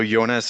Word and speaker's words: Jonas: to pronounce indeed so yonas is perfect and I think it goes in in most places so very happy to